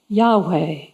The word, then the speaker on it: Yahweh: biblical scholars note how the pronunciation of the divine name yahweh incorporates the breath as we inhale with the first syllable and exhale with the second is it any wonder